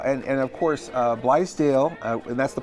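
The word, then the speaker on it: Blaisdell: And And of course, uh, Blale, and that's the pronunciation.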